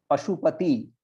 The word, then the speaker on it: पाशुपत: पशुपति, पशुपति से पाशुपत, पाशुपत पशुपति का. जैसे वसुदेव का पुत्र को क्या बोलते हैं हम लोग? वासुदेव. सो Vasudev is the father, Vasudev.